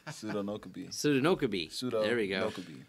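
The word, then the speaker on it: Sodinokibi: So how do you pronounce this ransomware again? Soda Kinibi? Did I say it wrong? Sodi, I said it wrong. Pseudonokabi.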